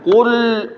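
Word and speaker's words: قُلْ: Haji lepas Qul lihat lamnya liat Qul qull lamnya jadi tebal lamnya jadi Padahal dia huruf Ti tipis Qul Qul qulin nas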